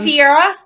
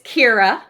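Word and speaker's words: Ciara: Then Sierra. Is it Kiera? It's Kira. Kira. Yes, that's a K.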